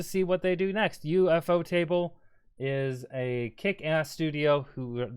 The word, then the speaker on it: ufotable: Let me also say, if you pronounce this as ufotable, you're a dumbass. I do not know what to tell you. These are two English words smushed together, just without a space.